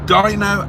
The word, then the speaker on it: Dino: y oh I apologize it's Dino as in Rhino rather than Dino which is how I pronoun sorry I was pronouncing it in the Italian way I saw that and